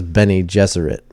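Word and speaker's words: Bene Gesserit: Jesuit yeah I so I listened to an audio track of Frank Herbert pronouncing each one of these names to see how he actually said it okay and he says he says Benny Jesuit oh really oh yeah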